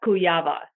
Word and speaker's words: Kujawa: you like to introduce yourself with a proper pronunciation of your name my friends absolutely cuyama rights are you married or were you born